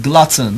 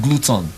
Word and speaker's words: glutton: you have tall so in glutton not gluten glutton Glu WTO end glutton